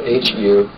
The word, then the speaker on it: hu: It's spelled H-U, usually in Sufism anyway.